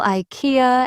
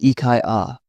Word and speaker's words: IKEA: I once heard someone call IKEA as IKEA. In Sweden, it's pronounced IKEA, which feels softer.